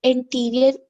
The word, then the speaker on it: anterior: ए है, एंटीरियर होता है, इंटीरियर नहीं, एंटीरियर, ANTRIOR, एंटीरियर।